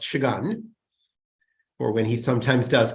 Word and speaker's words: Shagun: Since he's not on, I'm going to note that Shagun's name is pronounced Shagun, or when he sometimes does come on.